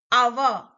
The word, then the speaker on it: hour: Our. Though it starts with H, H is silent, sound is our.